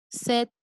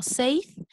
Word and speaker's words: said: A veces pensamos que se pronuncia así como safe, pero no es safe. Esta no suena, solamente es Seth, said Joe, ¿ok?